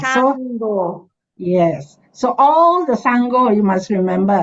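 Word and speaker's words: Saṅgho: then g h o two syllable s a n g first syllable g h o second syllable so it's Sango Sango yes ah so yes so all the Sango you must remember s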